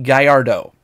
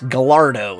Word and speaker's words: Gallardo: one that kills me lamborghini gallardo over here it's the lamborghini gallardo no that's not even it's gallardo is what it is how they say it it's killing me technically